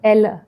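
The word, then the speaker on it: Ella: Sri Lanka had this one place that is known as एल उसको pronounce भी ऐसे ही करते हैं like एल ई एल एल ए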